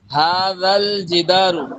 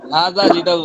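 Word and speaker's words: هذا الجدار: হাদাল জিদারু, হাদা জিদারু না, হাদাল জিদারু কাউইয়ুন ওয়া যালিকাল জিদারু দাঈফুন।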